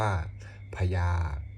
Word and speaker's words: อัพยา: หรือ เทโวโห โรหนะ 5 คำ ว่า อัพยา ให้ ออก เสียง พาน กับ ยักษ์ โดย ใช้ สระ อา ร่วม กัน เป็น เสียง ควบ กล้ำ ออก เสียง ว่า พญา คำ ว่า หิตวา ให้